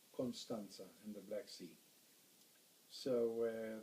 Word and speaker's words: Constanța: The Romanians pronounce ts with a curly thing under. So the second T has a curly apostrophe underneath, and that's pronounced ts. So it's Constanța in the Black Sea.